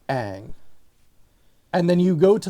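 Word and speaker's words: Aang: There's no movie in Bussing say, but the way that they say his name, Ong. Yeah, I know. Just like, are you kidding me? Why? You have a show where they say Ang, and then you go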